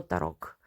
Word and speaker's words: tarot: як от тріонфі або тарок наприклад в Італія ця колода називалась старочіння А во Франція отримала вже назву Таро як бачимо Останнє не читається Точніше як чуємо і